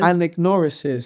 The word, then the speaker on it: anagnorisis: Anagnorisis. Do you know the word Can you text me as well? anagnorisis? Anagnorisis. That's 5 syllables.